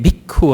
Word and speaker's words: bhikkhu: he actually said Panchavagye Bhikkhu Amantesi. He actually had a short U at the end here of the bhikkhu.